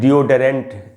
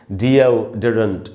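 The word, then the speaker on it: deodorant: डी ओ आर आई एन टी इसको भी डरेंट ऐसे करके पढ़ लेते बोल लेते हैं लोग जो सही उच्चारण है वो है डी ओ डरेंट डी डी के बाद आधा अ है।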